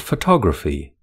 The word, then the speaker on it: photography: The second syllable has the main stress in photography.